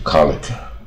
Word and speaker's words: college: 都是啊第一个音节 college，同事啊，也可以当